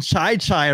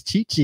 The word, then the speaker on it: Chi-Chi: Less Nesman pronounce he he I think he called him Chai Chai Rodriguez. And then uh Johnny Fever corrected me. I I think it's Chi-Chi and he's like he kept on going Chai Chai.